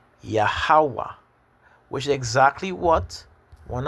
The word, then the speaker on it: Yahweh: back to front, no, the short 7, which is known as Wa. So like here for how to pronounce things. And the M with the space again next to the W is Ha. So when you put it together, really and truly, this is what you get. Yahweh, which is exactly what